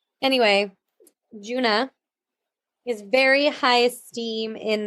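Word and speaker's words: Djuna: D J U N A.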